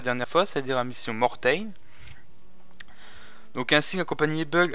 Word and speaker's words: Mortain: lignes de front à Mortain. Nous allons relever la compagnie Dog qui tient la colline 317. Le lieutenant Conti prend le commandement. Bon, c'est pas Mortain, c'est Mortain, excusez-moi.